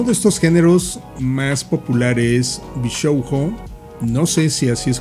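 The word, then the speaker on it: 美少女: Me corrige Rash y me dice que se pronuncia Bishoujo.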